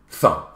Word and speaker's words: thumb: But at the end, there's a silent letter.